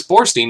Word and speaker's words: Borstein: phone bone and Alex Borstein is a nice name too it rhymes with a horse spleen I wanted to apologize